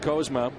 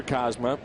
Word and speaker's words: Kozma: He said when we drafted Kozma, or Kozma, however you want to pronounce it, but he said